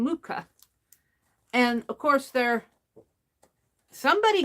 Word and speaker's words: Mucha: somebody gifted me these luca posters mucha you pronounce his name mucha and of course there somebody gifted these to